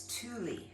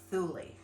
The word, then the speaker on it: Thule: In Svensk, it's Thule, not Thule.